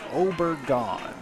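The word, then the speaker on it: Obregón: I was told that his last name is pronounced Obergon.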